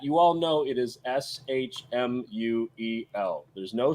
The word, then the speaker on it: Shmuel: By the way, for the chat, you all know it is SHMUEL. There's no C in there. I saw a Shmuel. It's not Shmuel either. SHMUEL. Shmuel. Yeah.